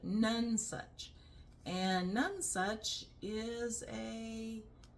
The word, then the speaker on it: Nonesuch: So sorry, Francis, but the book is called None Such. Not nonsuch, but none such.